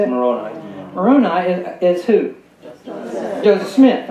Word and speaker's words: Moroni: Moroni.